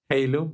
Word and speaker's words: Heilung: Someone told me that Heilung is the correct way to pronounce it. It's kind of weird because in my brain I have to trick it to say Heilung and not Heilung because as a native Spanish speaker, actually I want to